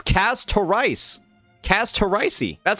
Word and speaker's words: Castorice: And I guess I was pronouncing her name, right? It's Casarice.